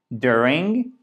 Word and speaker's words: during: durand cependant dring hockey de ring puisque la gelée souligné pour montrer le fait que c'est la première syllabe qui a accentué d'accord vous le savez